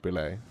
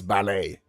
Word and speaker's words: ballet: Ble and ballet. I I mean that makes sense like because they are supposed to rhyme, right? Ballet. Ble. No, it's ballet.